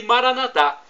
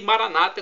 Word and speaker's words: Maranata: E Maranatá, como nós dizemos, os católicos, e Maranata, como dizem nossos irmãos evangélicos ou protestantes, Maranata. Não importa a pronúncia, porque o significado é o mesmo.